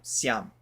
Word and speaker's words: siyam: So that one's like almost like a 1 syllable kind of siam. It goes like really quick.